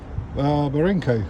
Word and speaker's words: Barenco: I'd like to say a big thanks to the people at Barenco, that's how you pronounce it.